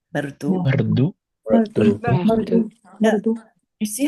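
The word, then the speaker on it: मृदु: Do you see that little dot under the R? That means it's a vowel.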